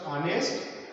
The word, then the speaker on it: honest: And in a word honest, H is not sound. Okay, so the word is pronounced honest and here hotel.